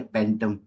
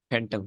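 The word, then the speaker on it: phantom: इसको कैसे प्रोनाउंस करते हैं, फैंटम या पेंटम? फैंटम, फैंटम। एफ की साउंड आएगी ना, पी एच। हाँ ठीक है। बिल्कुल ठीक है। बिल्कुल, एफ की साउंड लगी, फैंटम।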